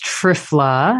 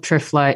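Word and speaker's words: triphala: so one of my favorite all-time herbs is trifla and that's spelled t-r-i-p-h-a-l-a and you know it's a little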